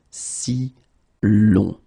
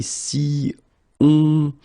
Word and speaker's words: si l'on: Si plus on, so as we saw, it will create what we call a hiatus, okay? And that's the main reason why it was here from the start. You will have to add this L just to get si long. Alright, so if you say si on, well, basically we think that it doesn't sound that nice.